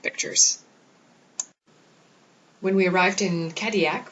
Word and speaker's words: Cadillac: when we arrived in Kodiak which is felt like Cadillac but they pronounced at Kodiak there were four excursions